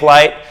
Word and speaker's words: Light: my name is Light. Last time it's pronounced light like a light bulb.